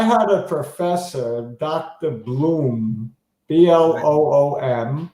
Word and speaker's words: Bloom: And he tried to get us to say Blum. Nobody would. Why would they? Yeah. You read O-O, you go ooh. If you spell it O-O-M, you're going to get Bloom.